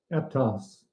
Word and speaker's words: Aptos: Aptos.